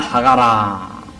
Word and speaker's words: 하갈: 원래 이제 이 히브리식의 어떤 발음의 그 억양은 주로 뒤에 액센트가 있습니다. 그러니까 하갈이라 부르는 게 아니고 하갈 이래 부릅니다.